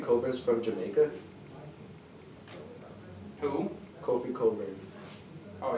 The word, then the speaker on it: Cockburn: Kofi Coburn. Oh, you mean the guy you thought his name was Cockburn? Cause that's how it's spelled.